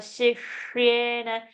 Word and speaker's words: शिष्येण: So you have to say Tava Shishyena. That half Sh, you should go like a whistle. That time the tongue is touching the roof of the palate.